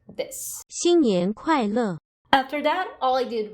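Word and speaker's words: 新年快乐: So that's what's written there, and it's pronounced like this. 新年快乐.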